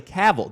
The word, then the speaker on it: Cavill: it is whenever Henry Cavill which I learned last night is actually Cavill did you know that Henry Cavill is actually how you pronounce it according to my friend